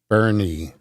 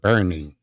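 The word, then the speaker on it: Boerne: No, they pronounce it Bernie. Bernie. It's spelled like that, but they pronounce it Bernie.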